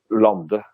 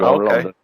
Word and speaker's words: Lande: The right one, if you were like in Scandinavia, you would say my name would be to say Lande. Okay. Lande would be the right way.